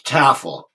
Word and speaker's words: Tafel: It's Taffel. The way we pronounce it here.